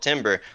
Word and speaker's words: timbre: It's not timbre, it's timbre. Like wait, you actually have timbre, no background whatever. In music. No, you're actually lying timbre, to me. It's timbre, okay? It's pronounced timbre.